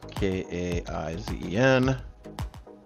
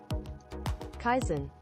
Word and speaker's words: Kaizen: for me and now we're going to actually pronounce k a i Zen Kaizen Kaizen Kaizen kaisen all right so Kaizen is a